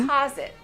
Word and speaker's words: deposit: When you put money in the bank, we stress the second syllable. Uh-huh. Deposit. Deposit. The O sounds like ah. Deposit. Some people say, to deposit. But we don't say deposit, guys. How do you say? Deposit. Deposit. We say deposit. Don't stress the first syllable.